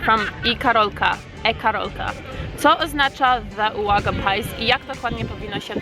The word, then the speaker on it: Uwaga Pies: Co oznacza the Waga pies i jak dokładnie powinno się to czytać? The Waga pies is how we're pronouncing this.